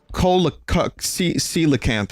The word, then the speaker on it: Coelacanth: Coelacanth, of course, is how you pronounce it.